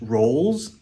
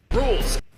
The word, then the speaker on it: Rouxls: so, he like says rolls when he refers to rules, but it's pronounced like rolls, which is set up for the rhyme for souls, but that's not how the name is said.